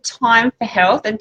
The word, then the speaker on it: Thyme: So there's a place called Time for Health, and Time is spelt like the herb, THYME.